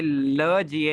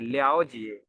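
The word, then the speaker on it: 了解: लियाओ जिए, लियाओ जिए, ये ल जिए नहीं है, लियाओ जिए, इसकी प्रोनाउंसिएशन हुई लियाओ जिए, लियाओ जिए मीन्स किसी चीज को डीपली अंडरस्टैंड करना, ठीक है।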